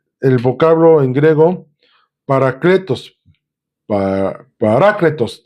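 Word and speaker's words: παράκλητος: Parácletos, de hecho es porque lleva acento en la A, parácletos.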